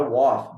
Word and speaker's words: was: Atenção na pronúncia. I was, não é I was, com som de A, apesar de estar escrito como A, não tem som de A, tem som de O.